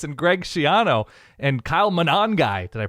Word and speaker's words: Monangai: Because nothing is getting your dopamine to fire with the Scarlet Knights and Greg Schiano and Kyle Monangai. Did I pronounce that correctly?